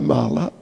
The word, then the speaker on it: mala: Now this does not mean the month of Japa mala but this sort of mala I think it's a short a first day a is like mala mala month shorter mala means stool har Krishna so this